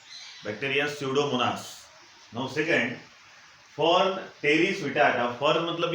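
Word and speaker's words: Pteris: ये जो प्लांट है इसका नाम है टेरिस विटाटा, फिर से पी साइलेंट है।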